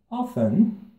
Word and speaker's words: often: Often. Quem sabe o que é often? Não se pronuncia o T, tá?